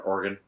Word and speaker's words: Oregon: some point U or or as they say up there organ I always want to put better than the other one the other ones organ origon orun that's in the midwest yeah we'll take places of other names like there's an there's an Oregon Ohio but we say Oregon uh I used to live